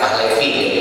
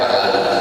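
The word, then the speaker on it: Pahlavi: itu kan dinasti bahlawi bahlawi ini atau kita suka bacanya Pahlevi ya eh bahasa Arabnya bahlawi dinasti bahlawi itu Du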